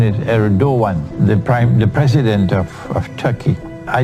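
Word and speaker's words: Erdoğan: But the pronunciation is Erdogan, the president of Turkey.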